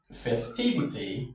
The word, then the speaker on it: festivity: So our stress falls on T. Festivity, festivity, not festivity, festivity.